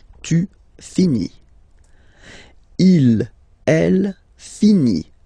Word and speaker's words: finit: Il, elle finit. So it, final t not pronounced.